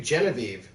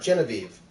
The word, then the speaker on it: Genevieve: Nate bird names do Genevieve mm-hmm Genevieve Genevieve bop NIV banana fanna fo fanna thief thief Faneuil men aviv Genevieve that one's not hard Genevieve Genevieve three syllables not that hard alright alright both are